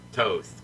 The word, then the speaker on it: Thoth: The complete emerald tablet of Thoth, or Toth, because the H is silent.